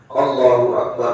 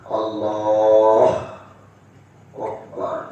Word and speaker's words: Allahu Akbar: Yang ke-10, al-muwalah bainahuma, harus Allahu Akbar langsung, bukan Allah Akbar.